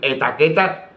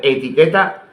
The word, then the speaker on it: etiqueta: Incluso pronunciar incorrectamente la palabra, decir etaqueta en lugar de etiqueta, era suficiente para hacer el ridículo.